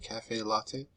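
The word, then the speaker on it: caffè latte: a tall cafe cafe latte is how you pronounce it cafe latte they cost 1.95 at starbucks six weeks six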